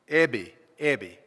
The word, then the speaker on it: Eby: Is that how you pronounced his name? E-B-Y? Did anybody know him? Huh? Ebby. Okay.